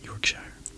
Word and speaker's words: Yorkshire: near Middlesbrough Middlesbrough in Yorkshire Yorkshire and I you Brits say that your chair your chair his father was a